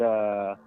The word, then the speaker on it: aswang: We pronounce it aswang.